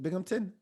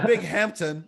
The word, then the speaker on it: Binghamton: spell it be yeah so it's like bing ham ton oh it's ham okay big hampton like you're in the hamptons but it's not it's it's binghamton not even close that doesn't sound like